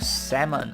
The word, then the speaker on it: salmon: Travel to a southern waterfall and bring back a bag of salmon. Okay, let's go. And yes, that is how it is pronounced. The L is silent for those of you guys who don't know.